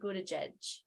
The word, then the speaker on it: Buttigieg: He's closing it and he's handing it to Pete Buttigieg.